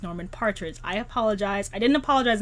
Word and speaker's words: Norman Partridge: this book last month it was not norman patridge it's norman partridge i apologize i didn't